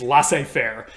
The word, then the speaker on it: laissez-faire: And that is, the way that we pronounce this in English, at least today, is laissez faire.